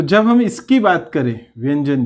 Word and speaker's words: व्यंजन: हम इसकी बात करें व्यंजन की, तो देखिए क्या होता है कि व्यंजन के लिए व्यंजन, इसका प्रोनाउंसिएशन य में किया जाता है, न्य, व्यंजन व्यंजन, ये इस तरह से चलता है।